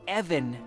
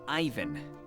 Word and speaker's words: Evan: comade Ian sorry but it's Evan not Ivan Evan they're not the same name I suppose that there